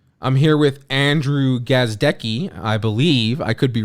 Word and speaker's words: Gazdecki: And yeah, for those listening, I wouldn't tell Jeff how to properly pronounce my last name until he hit five. And you said it perfectly. It's Andrew Gazdecki.